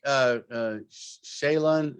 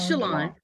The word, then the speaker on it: Shalon: I'd like Shaylon, am I pronouncing that right? It's Shalon.